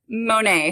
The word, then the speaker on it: Monet: because i was like what if it's like bonnet but it's not it's monet ashley gray britney hatton